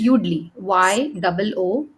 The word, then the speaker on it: Yoodli: is given a topic on the spot, the Spell it, child, Tarannum. What is yeah, it? it's Udly, Okay.